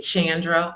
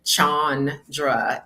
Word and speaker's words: Chandra: But um it it's since there are two A's then that long a sound on chandra is how it's pronounced.